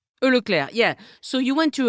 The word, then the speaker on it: Leclerc: Leclerc, is that right? Leclerc, yeah.